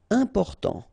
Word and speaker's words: important: Important. So final T not pronounced. And then remember, you've got this EM, and after that it's a consonant, so it is here nasal. Important.